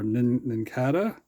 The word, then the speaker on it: Nincada: Or Nincada. Nincada. Maybe it's like a cicada.